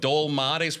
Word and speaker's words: dolmades: Maker of dol mades. Well, how do you pronounce that?